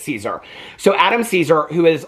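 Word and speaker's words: Cesare: And I had looked up the author who is Adam I kept I kept on pronouncing his name Cesar, but I guess it's Caesar.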